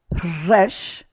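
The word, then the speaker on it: ריש: Tsadi, tzadik, tzadik, kuf, resh. Okay, you have to roll that R.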